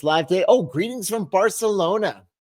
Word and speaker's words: Barcelona: Oh, greetings from Barcelona. Or I should say Barcelona, right? That's how they say it.